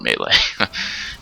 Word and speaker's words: melee: This time I'm talking about melee combat, and yes, I've chosen to pronounce it melee.